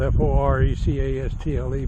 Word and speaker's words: forecastle: All right, the front deck of the ship is often called the forecastle, a forecastle, spelled F-O-R-E-C-A-S-T-L-E, but they pronounce it forecastle.